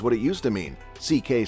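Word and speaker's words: Székely: to Mexico and met CK's grandmother, who was a Mexican with Spanish and indigenous Mexican ancestry. Louis Sekeliu is his given name, pronounced CK.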